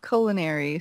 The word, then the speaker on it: Culina: Well, it's like culinary, so Culina.